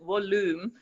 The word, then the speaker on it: Woolume: to pronounce it, but we called it volume because we want to be working a lot with sound absorbing different structures that can be made from wool. And so it goes both to the volume of sound, but then using the word wool spelled, so it's spelled Woolume.